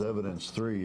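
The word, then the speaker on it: Evid3nc3: it the next is evidence three is how I pronounce it it's Avid Avid with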